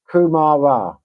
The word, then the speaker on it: kumara: Kumara.